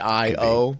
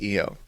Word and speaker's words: Io: them saying like, oh, I-O is actually pronounced E-O, but no. That's like saying like, I don't know, Jupiter's pronounced Jupiter. Yeah, I would have preferred IO. I think IO sounds way cooler, but EO is what we got.